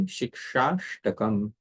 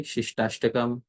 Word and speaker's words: Śikṣāṣṭakam: Then gradually when we become used to it, we can say Śikṣāṣṭakam. So this is how it should be pronounced properly. Otherwise, we may pronounce it incorrectly, Shishtastakam or something like that.